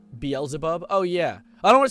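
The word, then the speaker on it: Beelzebub: Beaselbub is pronounced Belzabub.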